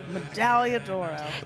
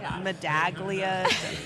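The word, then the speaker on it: Medaglia d'Oro: It took me a couple years to correctly pronounce the name, but sitting through one sale. Sitting through one yearling sale. Medallodora. Because the first time I was like, Madaglia, it's probably the most common misprononunciation.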